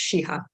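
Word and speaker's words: Sheehi: required first-year diversity course taught by Professor Lara shiha there's an eye at the end of her name but I've been informed that it's pronounced shiha so what are the basic facts probably many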